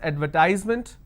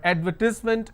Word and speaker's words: advertisement: You can also pronounce that as advertisement, but advertisement is more universal pronunciation.